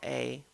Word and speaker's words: A: a guy named Nanao A. And my understanding is that that's just a Japanese surname that is pronounced A. It's not the letter A.